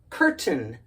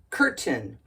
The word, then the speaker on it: curtain: a i n looks like we should pronounce it curtain because the A and the I make the long a sound because it's a vowel pair but not here because of the schah the emphasis is on the first syllable so it's curtain curtain